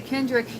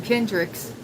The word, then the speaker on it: Kendrick: Hey, I just learned how to say Kendrick yesterday. I've been calling him Kendricks um ever since uh They Not Like Us uh came out.